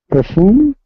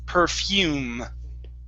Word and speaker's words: perfume: to the word perfume the e at the end of the word is not pronounced so instead of perfum it's perfume perfume okay good uh